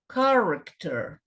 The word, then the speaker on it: character: Se esse som aqui é o som do K, esse aqui não pode falar character, esse aqui é o car. Se essa é a sílaba com estresse, era a sílaba pronunciada com mais força.